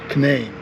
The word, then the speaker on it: Canaan: Canaan Loop Trail. That's how it's pronounced. Can-Nayne.